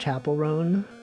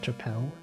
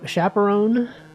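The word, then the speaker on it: Chappell Roan: You guys know it's pronounced chaperone and not chapelle. Chapelle. It's like chaperone.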